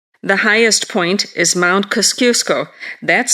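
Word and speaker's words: Kosciuszko: negative 15 meters the highest point is Mount kaskusco that's spelled k-o-s-c-i-u-s-k-o at 2229 meters Australia is rich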